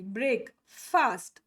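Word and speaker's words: breakfast: ಬ್ರೇಕ್ ಅಂತ ಯೂಸ್ ಮಾಡ್ತೀವಿ ಬ್ರೇಕ್ ಫಾಸ್ಟ್ ಫಾಸ್ಟ್ ಬ್ರೇಕ್ ಫಾಸ್ಟ್ ಸೋ ನೋಡಿ ಇಲ್ಲಿ ಫಾಸ್ಟ್ ಅಂತ ಯಾಕೆ ಯೂಸ್ ಮಾಡ್ತೀವಿ ಅ ಇರೋದ್ರಿಂದ ಎಫ್ಎ ಇರೋದ್ರಿಂದ ಬಟ್ ಆಕ್ಚುಲಿ ಫನೆಟಿಕ್ಸ್ ಪ್ರಕಾರ ಹೆಂಗಿದೆ ಬ್ರೇಕ್ this is brake it's ನಾಟ್ ಬ್ರೇಕ್ ಇಟ್ಸ್ ನಾಟ್ ಬ್ರೇಕ್ ಬ್ರೇಕ್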